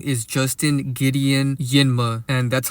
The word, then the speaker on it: Njinmah: So Justin's real name is Justin Gideon Yinma, and that's how you pronounce his last name.